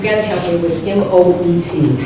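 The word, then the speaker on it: Moët: and Mark you've got to help me with m-o-e-t how do you pronounce it well that's that's Moet all right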